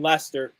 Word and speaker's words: Leicester: need a little flavor everyone on this watch along pronounces the r in leicester you can change that